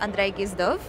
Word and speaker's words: Andrey Gizdov: Now I'm moving into a different field, medicine, and here with me I have Andrey Gizdov, who's gonna expand on the project he's been doing around skulls and very interesting stuff.